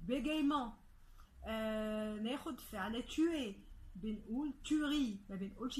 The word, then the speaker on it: tuerie: ناخد فعل tuer، بنقول tuerie، ما بنقولش tuerie، ال E كمان هنا مش بننطقه.